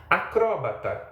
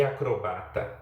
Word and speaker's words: acróbata: Acróbata e acrobata, a mesma palavra pronunciada de duas formas.